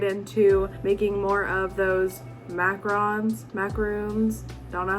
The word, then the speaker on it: macaron: making more of those macarons, don't know how you pronounce them. I think it's macaron. My whole life I said macaroons and everyone said that was wrong. So I think it's macaron, probably.